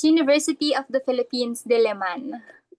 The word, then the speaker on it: Diliman: How do you pronounce the the name of your university? Yeah, it's University of the Philippines Diman.